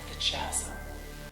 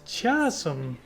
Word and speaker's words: chasm: a ride on this Ches oh it's pronounced chasm and I need to